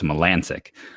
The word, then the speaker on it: Melancon: It looks like Melancon, but it's Melancic.